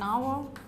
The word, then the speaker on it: hour: vowel sound like an hour because here the letter H is not pronounced it is silent so what is the